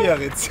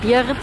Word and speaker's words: Biarritz: Biarritz. Bei Biarritz. Das vergisst du immer, gell? Ja, also spricht man es echt Biarritz aus?